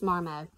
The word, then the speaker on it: Marmot: marmite i've heard both i really think the tea is silent i think it's marmot this is um a